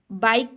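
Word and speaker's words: bike: अच्छा, दूसरा बाइक, ठीक है, बाइक, अब इसमें देखें बाइक की तो नहीं बोल रहे ना, हम बाइक बोल रहे हैं, तो इसमें ई जो है ना वो साइलेंट लेटर है।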